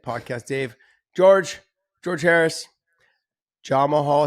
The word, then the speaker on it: Jamahal: Dave George George Harris John Mahal Hill is the way that day prod says his name it's not Jamal Hill it's Jamal Jamal you're